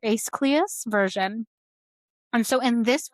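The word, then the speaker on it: Aeschylus: It's escalus. It's a e s h y l u s. So es I think it is or ace cleus version.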